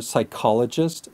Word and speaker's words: psychologist: Now, the silent P rule goes for psychologist, psychology, and psychological. Just remember to put the stress on the first O in our first example.